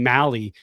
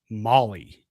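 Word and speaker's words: Mahle: talk to Hauser and I keep saying Malley, but Buster Posey called him Tyler Molly. Okay, so we heard Malley from the beginning, exactly. So maybe we'll have to hear how Kruk and Kipe say his name.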